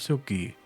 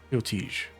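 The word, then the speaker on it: Sealticge: Guard himself is a devout follower of Silky, Lady of Grace. That was very helpful. Siltige. Siltige. That's how it's pronounced.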